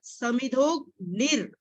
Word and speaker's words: समिधोग्निर्: र नहीं पहले बोलना, पहले हमने ग की आवाज पहले। यथै धांसि समिधोग्निर् भस्मसात् कुरुतेर्जुन। भस्मसात् कुरुतेर्जुन। ज्यादा यहीं पे गलती होगी। समिधोग निर, ओ के बाद ग की आवाज आए।